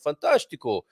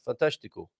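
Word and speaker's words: fantástico: straight forward there uh so that's an ooh sound of fantastico and not an o sound fantastical right yeah it must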